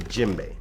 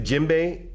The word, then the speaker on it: djembe: Okay, so the other drum that I'm going to talk to you a lot about is called the djembe. Now the djembe is spelled D-J-E-M-B-E.